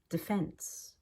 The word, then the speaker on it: defense: D really quick detectable defense we pay for National Defense but I don't say we pay for National Defense that would be too careful however for sports teams we do say defense the players are playing